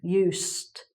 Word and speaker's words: used: And you may have noticed when I said that I made more of an "s" sound here: "used", "ss"; whereas with this one, it has a sort of "z": "to use".